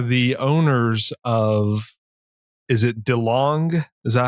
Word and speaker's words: DeLong: They are the owners of, is it DeLong?